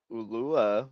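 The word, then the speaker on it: Ulloa: And Fidel Ulua, which that's how you say it.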